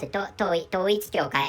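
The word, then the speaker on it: Toitsu Kyokai: So by using that is what I spoke out was that so in Japanese language this is called Toichi Kyokai, and I read these Chinese characters in the manner of Korean language.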